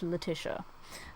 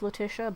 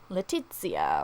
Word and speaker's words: Letitia: my name is pronounced letia um I know uh different parts of like Europe pronounce it differently but yeah it's it's pronounced latia but I'm fine with